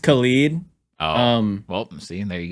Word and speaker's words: Khalid: Khaled has an E, and then Khalid has an I, so it's a little different. But there's definitely Khaleds out there that are